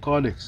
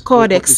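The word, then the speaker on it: caudex: pronunciation of your word you pronounce it correctly codex codex spelling is c-a-u-d-e-x yes some people think it's c-o-r-d-e-x oh it's c-a-u thank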